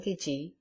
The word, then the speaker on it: gidgee: gums and black smelling gidgee. Note: Gidgee, colloquial pronunciation of Gidea, an Australian tree.